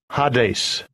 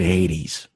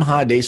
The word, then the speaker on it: Hades: GE Strong's G 86 ha days ha days Thayer's lexicon hi days hi days a lot of people pronounce it Hades but it's not it's ha days ok name ha days are Pluto the god